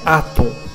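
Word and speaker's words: Aton: Então, a pronúncia é Atom, porque o I está na frente, no início de um nome próprio. Então ele tem um som de A. Escreve-se ITN, mas lê-se Atom.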